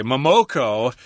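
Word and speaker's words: ももこ: And we would also say Momoko if we're speaking English. But in Japanese, I think they pronounce it differently.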